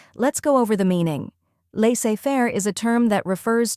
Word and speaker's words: laissez-faire: The correct pronunciation is laissez-faire. Let's break it down. First, we have lay, which sounds like let but without the T sound.